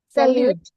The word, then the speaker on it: salut: Sal don't pronounce we don't pronounce the uh the last letter sal bonjour bon bon Oreoir arriv.